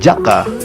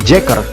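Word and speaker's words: JAKQ: pengucapan judul serial ini pada dasarnya kita hanya mengucapkan judul tersebut mengikuti pelafalan dalam bahasa Jepang yakni Jaka padahal judul tersebut jika dilafalkan ke Aksara Inggris dapat diucapkan menjadi jacket dan itu adalah judul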